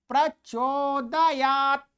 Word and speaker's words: प्रचोदयात्: प्रचोदयात 'T' में अक्षर 'A' इसका उच्चारण नहीं किया जाता है। बहुत से लोग क्या करते हैं? कई लोग 'प्रचोदयात' इसे इस तरह कहो, नहीं, यह गलत है।